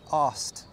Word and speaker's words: asked: So the easy way, just get rid of the K. Asked.